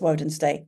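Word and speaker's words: Wednesday: this all the time it's wen's Day wedness Day practice it like that using a spelling voice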